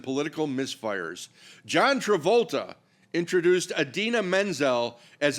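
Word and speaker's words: Idina Menzel: He didn't just mispronounce it. He invented a whole new human being somewhere.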